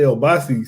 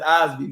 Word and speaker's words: Osbe: See, I was gonna say Obasi. See, I'm already trying to say it wrong. Osbe Yeah, Chill. nah, it's Osbe, man. It's Osbe.